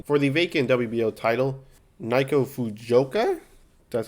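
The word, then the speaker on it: Naoko Fujioka: Her losses include World Champion for the vacant WBO title, Naiko Fujioka, that's how you pronounce it, and Tina Rupchek, the unanimous decision.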